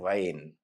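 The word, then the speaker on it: غين: This sound comes from a very deep part in the throat. While saying it, try to tight in the flow of air that's going out of your throat. Let's practice how to say it first. Try to say then tight in the air little by little to get the sound of Ghein.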